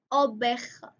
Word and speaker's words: oveja: Sheep is oveja, oveja, because the V is pronounced B in Spanish, oveja.